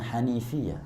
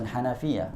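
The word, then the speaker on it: الحنيفية: taat kepadanya annal hanifiah bacanya hanifiah bukan Hanafiah kalau Hanafiah mazhab Hanafi ya annal hanifiyata millata millata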